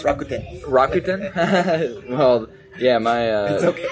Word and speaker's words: Rakuten: IBM, Microsoft, Docomo, New York Stock Exchange, Morgan Stanley, Rakuten. I can tell you're not from Japan. It's Rakuten.